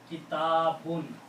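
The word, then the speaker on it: كتاب: If you stop pronouncing, there's no word after that, you will say kitab. That we say all the time. The book is kitab. But the full correct Arabic word is kitabun.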